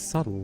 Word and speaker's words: subtle: But it's subtle though. The bee is silent if anything.